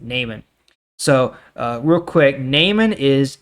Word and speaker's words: Naaman: I believe that's how you pronounce it, Naaman.